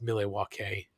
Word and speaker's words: Milwaukee: Hillbillies I'm sorry kid it's actually pronounced mile walkey that's Algonquin for the good land um so he needs